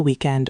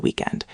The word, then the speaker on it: weekend: Stress on the first syllable, not week-end.